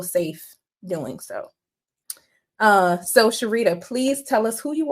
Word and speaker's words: Cherita: bullet points so I'm Sharita um if anyone sees my name and you're questioning how to pronounce it literally Shar and Margarita put together so always like to